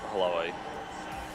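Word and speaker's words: Hlavaj: There's a name pronunciation there. Let's listen. Samuel Halavai. What is that? Halavai? What do you say? Samuel Halavai.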